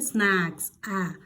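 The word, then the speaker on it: snacks: इसका मतलब होता है, इसे हम थोड़ा सा जोर देकर स्नैक्स, स्नैक्स कैसे पढ़ेंगे, स्नैक्स, मुंह थोड़ा ज़्यादा खुलेगा, स्नैक्स मतलब होता है, इसका मतलब होता है नाश्ता।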